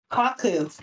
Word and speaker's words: Kaku: Kaku. Is that how I pronounce it? Kaku? Kaku, yeah.